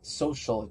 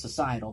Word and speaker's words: societal: mispronouncing that word I my mind wants to say social but it's like it's not social it's societal it's pronounced societal but yes societal collapse